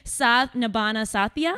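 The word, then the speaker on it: Saath Nibhaana Saathiya: daughter-in-law, Monica Modi, on, I'm going to try to pronounce this, Saath Nibhana Saathiya.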